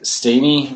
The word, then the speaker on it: Stehny: every 5 minutes on my iPhone, checking my Twitter feed, I can be reached at Steeny, which is spelled Stehny.